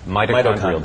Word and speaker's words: mitochondrial: Mitochondrial, whatever. How do you say that? Mitochondrial.